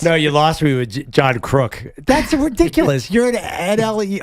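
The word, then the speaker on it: John Kruk: really well no I prefer the old English pronunciation of his last name is yeah you usually nail baseball but John crook it's John crook don't dis tournament which bothers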